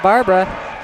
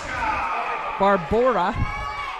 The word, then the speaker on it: Barbora: Yeah, Barbara. Barbora is right.